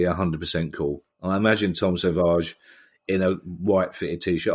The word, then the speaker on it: Sauvage: Our final question, Kieran, comes from Tom Sauvage. I've gone for the coolest possible pronunciation of that name. If it's actually pronounced Sauvage, as in sausage.